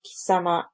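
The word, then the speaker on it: 貴様: This pronoun is pronounced as kisama and is rude and used mostly by males.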